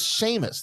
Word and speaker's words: Seamus: I said his name is Seamus. That's a very popular name from where he's from. It's like John over here. Well, that's not how it's spelled. I said it's Seamus. That's just how they spell it.